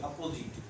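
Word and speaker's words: opposite: अपोजिट generally जब आप देखेंगे कि जो ओ एस आई रहता है तो उसका उच्चारण ज होगा, लेकिन जब आई एस ओ लिखेंगे तब उच्चारण इसका क्या हो जाएगा? स हो जाएगा। तो यहाँ पर जो है ज उच्चारण, इसे अपोजिट।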